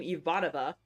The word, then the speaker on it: Ivanova: You don't have to be a Babylon 5 fan to know the name Ivanova. And yes, that is how you pronounce it.